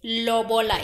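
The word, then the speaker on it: lobola: her from afar Ed O how do you spell it what I think the Loba Loba it's l o b o l a Loba as I'm saying it Loba Rus is asking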